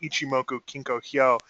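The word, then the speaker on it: Ichimoku Kinkō: of the cloud uh it's actually in long form Japanese uh pronounced ichimoku kinkoo and the translation is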